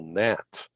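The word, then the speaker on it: Nantes: is in southern france in a city called nat and it's spelled n-a-n-t-e-s it's actually a seaport and it's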